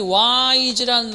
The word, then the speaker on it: wise: 자, 그런데 중요한 건 여기서 wise라는 말이, wise라는 말이 단음절어입니다. 끝에 이는 발음되지 않는 부분이야.